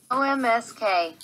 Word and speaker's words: Omsk: Tomsk Oblast, Novosibirsk Oblast, OMSK. Oh, so Google doesn't know how to pronounce that one. Omsk. Omsk, that's how Russians pronounce it.